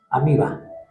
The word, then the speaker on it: ameba: Pues ameba. Amiba. Ameba es como le escribimos, se pronuncia amiba.